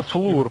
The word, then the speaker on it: Floor: Но вообще-то флур, потому что две О это как У читается. Ну, кроме, ну... Я правильно, правильно? Да, правильно. Ну, знаешь, есть быдло, которое говорит киллингфлёр вообще. Флёр.